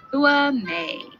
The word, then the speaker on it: Hua Mei: Days after her birth, a little panda receives her Chinese name, Hua Mei, pronounced Hua Mei.